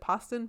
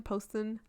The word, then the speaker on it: Poston: Is it Poston? Poston. I don't know. It's spelled like It's Boston. like post. But On. also Oh yeah, like like post. Post on.